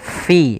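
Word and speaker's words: فِي: Kemudian yuwaswisu fi, ini huruf fa, hati-hati jangan dibaca yuwaswisu pi, jangan, tapi dia fi, ada nafas yang kita keluarkan karena huruf fa yaitu ada salah satu sifatnya sifat hamas, fa, ada mengalirnya nafas kita fi.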